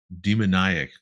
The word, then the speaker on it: demoniac: Um, Incredibly long fingernails and kind of a demoniac glare. Demoniac? Not demonic, Demonic. demoniac.